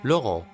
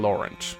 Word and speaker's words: Laurent: enters the comment section, I am very aware that it's pronounced Laurent. But unlike Camus, which is very easy to say, I don't even want to attempt to say this name correctly. I'm not French, so I'm saying Laurent.